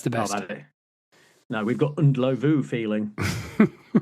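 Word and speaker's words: Ndlovu: Peter Unelove. Correct. Thank you very much. Okay. In fact, the correct pronunciation is Unlu. Unlu.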